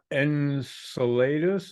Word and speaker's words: Enceladus: Yeah, there's some moons that I'm not familiar with, like Enceladus. Is that how you say it? Enceladus. Yeah, very good. Enceladus.